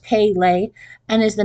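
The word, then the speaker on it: Pelé: We had Princess Di and Miss Dolly and Pele, which is pronounced Pele, and is the name of a famous soccer player who is George Cuesta's hero.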